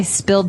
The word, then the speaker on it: spill: So I spilled some milk. Okay, spilled. Now, it's pronounced differently from spell, right?